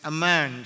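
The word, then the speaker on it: אמן: en el antiguo testamento la palabra más importante para hablar de la fidelidad de dios es aman sería como la pronunciar y amos en español y transmite la idea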